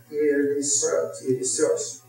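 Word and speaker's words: Ierissos: We went to, and that's pronounced Eirisos.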